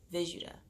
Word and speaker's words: Vishuddha: What I just said made no sense, but it's in the middle of your throat, and this throat chakra is pronounced the Vishuddha.